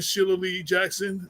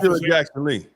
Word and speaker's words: Jackson Lee: Keef I saw that and um uh Congressman Sheila Lee Jackson Sheil Jackson Le did that say it right Sheila Lee Jack yeah so um yeah or Shea Jackson whatever forgive me Jackson Lee Jackson Lee right yeah yeah yeah another I